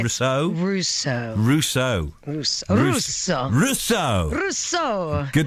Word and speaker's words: Russo: so much people saying rosso simply said rousseau russo russo russo russo rousseau good to have you